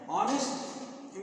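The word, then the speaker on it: honest: जो है ऑनेस्ट है ऑनेस्ट में यस का उच्चारण नहीं होता इसको साइलेंट कर देते हैं तो ये ओ के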